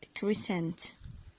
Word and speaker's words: crescent: Crescent. Crescent. Did you see in all the words the letter C followed the letter S, and we didn't pronunciate it or pronounce it?